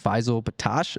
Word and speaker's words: Faysal Bettache: And then we have Faysal Bettache.